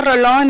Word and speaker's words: Rolón: Mi nombre es Rolón y vengo representando al Distrito 1 para que